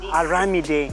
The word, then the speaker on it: Aramide: Yeah, Aramide. Yes. Na faɗa daidai, did I pronounce it right?